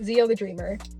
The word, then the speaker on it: XioTheDreamer: That's as far as I've come to understand how it's pronounced, XioTheDreamer.